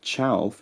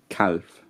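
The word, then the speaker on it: cealf: Now, chauf is a bit strange because it has this palatalization of the k sound to ch, chauf instead of calf.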